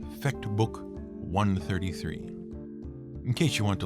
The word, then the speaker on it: I.33: And even though it is written as I.33, that's how it's pronounced. Fecht Book 133, in case you want to look it up.